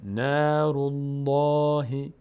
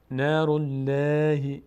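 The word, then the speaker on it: نار الله: همیشه الف خوانده میشه در لفظ جلاله لفظ جلاله الله وقتی ما قبلش ف ضمه یا فتحه داشته باشه حرکت ما قبلش پر خوانده میشه یعنی دهان در هنگام تلفظ این الف لام به سمت بالا باز میشه نارالله نارالله باریک خواندنش چطوریه نارالله این غلطه این اشتباست للهی اگه بود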